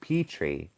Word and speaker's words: Petri: Um, in USA we pronounce it pet tree. I would say Petri.